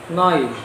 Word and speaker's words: neun: itu bahasa Jermannya adalah noise antara 10 bahasa Jermannya adalah Nah itu kenapa misalnya neun tapi dibaca noi noi karena di Jerman itu EU itu dibacanya Oi jadi selanjutnya jam 13.15